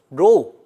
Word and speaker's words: rho: 자, 여기서 rho, 자, rho라고 읽고요.